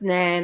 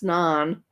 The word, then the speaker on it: naan: It's not pronounced nan. It's naan.